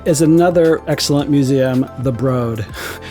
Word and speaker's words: Broad: another excellent museum the broad one of my la friends told me i was pronouncing it wrong i was calling it the broad and next door to